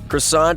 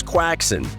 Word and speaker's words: croissant: pronounce it as quackson there's a pretty notable difference between croissant and quackson and apparently holland slipped